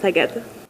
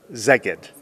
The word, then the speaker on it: Szeged: But I do need to know how to pronounce the city's name. Szeged. Szeged.